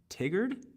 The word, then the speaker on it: Tigard: to Cottage Grove and then I'll be in Tigard is how they call it it's so interesting learning how to pronounce pronounce all these names then Eugene Oregon